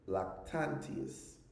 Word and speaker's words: Lactantius: You also had Lactantius. Also, people pronounce it Lactantius.